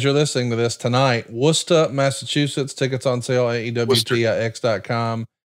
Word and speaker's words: Worcester: Worcester. That's Worcester.